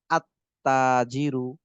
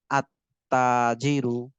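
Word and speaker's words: التاجر: উচ্চারণ হবে না যেমন আত্তাজিরু লাম উচ্চারণ না হয়ে আলিফটা সরাসরি তাকে গিয়ে ধরবে তাহলে হবে কি আত্তাজিরু আত্তাজিরু এই হলো হরুফে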